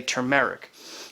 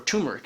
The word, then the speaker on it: turmeric: And then you look at things like, say, turmeric, or turmeric as some people like to call it. I like to say turmeric, which I think is the right way to say it, but not a lot of people say it.